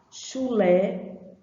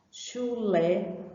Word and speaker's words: chulé: Chulé, certo? Chulé, ó, o lé também é pronunciado com som forte, não é assim?